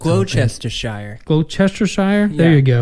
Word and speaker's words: Gloucestershire: It's not pronounced any way it looks. Gloucestershire.